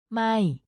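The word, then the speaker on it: ไม่: or not in English it's pronounced with a falling tone so your voice goes down slightly when you say it my it is important to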